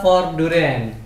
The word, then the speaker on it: Voordurend: Nama brandnya adalah Forduren. Nah, ini benar salah satu. Benar nggak cara pengucapannya? Benar nggak? Benar.